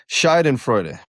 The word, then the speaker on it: Schadenfreude: It's Schadenfreude.